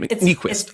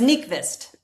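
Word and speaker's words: Nykvist: I I can always pronounce his name. Nquist. It's Nikvist.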